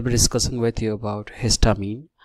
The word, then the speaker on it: histamine: that actually what is histamine? So you should pronounce it like that, hist and amine.